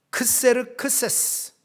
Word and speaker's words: 크세르크세스: 등장하는데요이 왕은 페르시아 왕으로서 발음이 조금 어렵습니다 크세르크세스 영어 발음은 좀 달라요이 사람이 누구냐면요 성경 인물로